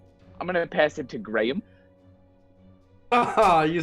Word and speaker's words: Graham: those who don't know the name Graham is pronounced in two syllables Graham like Americans just don't do it and I blame graham crackers because we all say graham crackers there's like a weird